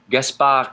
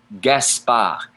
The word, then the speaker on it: Gaspard: Gaspard ends with a D, but it's not pronounced in French. Gaspard.